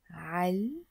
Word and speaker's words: على: Eid Mubarak al Jamia. Eid Mubarak al Jamia. Eid Eid. Mubarak, blessed. Ala, which we pronounce here as al, literally means on, but in this context it means to.